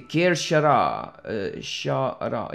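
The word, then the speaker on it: Kir'Shara: So, the Kir Shara. Yeah, it is. I'm actually pronouncing this right.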